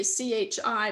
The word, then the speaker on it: chi: is a chi greek letter chi squared and it's spelled to chi c h i but it's pronounced chi uh chi squared but